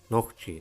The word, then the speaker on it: Нохчий: refer to themselves as knock she pronounced knock G singular knocky knocky or